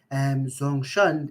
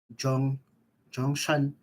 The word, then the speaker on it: Zhongshan: So Zongshan, the way I pronounce it, they call it Zhongshan bus station. They don't call it that way. There's a Chinese way of calling it.